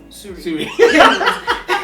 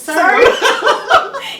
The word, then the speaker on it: Surrey: I used to say Surrey. Yeah, I think we all did. Yeah. But the first time I had the contract, I pronounced it Surrey, and then the lady on the phone, no, it's Surrey.